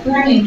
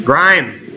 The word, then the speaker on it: Grime: No, it's Grime. Grime. It's a G-R-I-M-E. Yeah. Yeah, Grime. The E is silent.